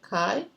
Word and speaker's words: chi: be X for us this pronounce or spell CH eye but Chi and Chi is written